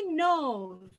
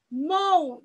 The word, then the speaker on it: know: K ve N harfleri yan yana geldiği zaman baştaki K harfi sessiz harftir. Silent letter dediğimiz bir kelime oluyor. Know diye telaffuz ediyoruz. Yani know diye okunmuyor hiçbir zaman. Know demiyoruz. Know, knows oluyor.